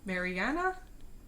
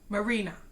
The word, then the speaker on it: Marina: Mariana? You know, like, look it up. Marina.